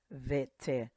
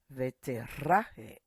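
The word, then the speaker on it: ותראה: Veterahe. The R is pronounced R. Veterahe.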